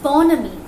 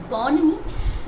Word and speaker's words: bonhomie: Human-animal bonhomie. That is, H is silent in the word bonhomie.